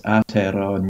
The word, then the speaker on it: Aotearoa: It's the Church of Confessing Anglicans Aotearoa, New Zealand.